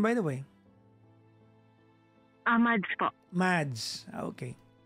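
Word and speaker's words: Madz: Mads po. Mads. Okay. Opo. Si Mads. Ah, how do you spell that?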